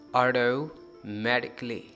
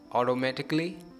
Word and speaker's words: automatically: Word D में है, ऑटोमेटिकली। तो हम कहेंगे ऑटोमेटिकली। तो कितने ही प्रोनाउंसिएशन के मेथड्स हैं, जो आपको बेस्ट लगे, फैसिनेटिंग लगे, आप प्रोनाउंस कीजिए, लेकिन रिड्यूस कीजिए ए को। ऑटोमेटिकली, ऑटोमेटिकली।